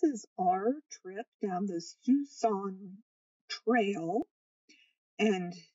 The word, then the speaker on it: Siouxon: this is our trip down this fusong trail and it's pronounced tucson it rhymes with tucson and it's basically a river that we followed down by Mount Adams and Mount st.